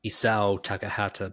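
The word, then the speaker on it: Isao Takahata: Always the same weight on all syllables.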